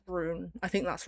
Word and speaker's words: Ruhn: I really like Rune. I think that's how you say it. I looked up how to pronounce it and it said Rune.